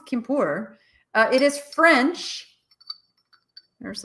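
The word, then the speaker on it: Quimper: it this is the i'm sure it's not pronounced henriott but anriyat anriyat is that how you say it kimpur i know it's kimpur uh it is french there's a little french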